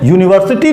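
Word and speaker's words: university: तो जैसे यूनिवर्सिटी लिखा है, और जब हम इसका प्रोनाउंसिएशन करते हैं तो ये या से होता है, ना कि आ से।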